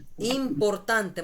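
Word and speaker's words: importante: ইমপান্তে ইমপরতান্তে মানে গুরুত্বপূর্ণ ইম্পর্টেন্ট যেটাকে বলে এটার কি হবে সেটা ইমপান্তে দেখেন উচ্চারণটা এভাবে করবেন ভাই কারো আওয়াজ আসতেছে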